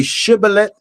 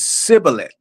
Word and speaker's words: Shibboleth: And one tribe was able to say Shibboleth, and the other tribe says Sibboleth. And you would know who was on which side because of the pronunciation.